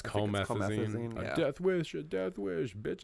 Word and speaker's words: Comethazine: Comethazine. I think it's supposed to be like promethazine, but it's Comethazine.